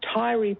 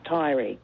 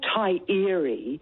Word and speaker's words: Taieri: - That there's no Tai-eree and there's no O-amaru. You know, have you got a lot of Māori in you too Marcus or something? We don't talk like that down here.